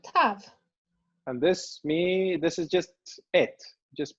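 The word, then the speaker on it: את: And this is just et, just pronounced Das as ist et.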